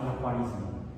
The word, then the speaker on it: Al-Khwarizmi: El matemático se llamaba Al-Khwarizmi.